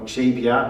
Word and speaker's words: Xebia: Because most of the Dutch people know Xebia, or Xebia, how we pronounce it in Dutch, sorry, Xebia, who knows Xebia?